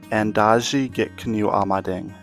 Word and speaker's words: Endazhi-gikinoo'amaading: Could you try to pronounce it? Endazhi-gikinoo'amaading. Endazhi-gikinoo'amaading.